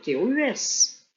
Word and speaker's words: tous: Autrement dit, avec le mot qui suit, sauf s'il remplace et que tu dois prononcer le son S.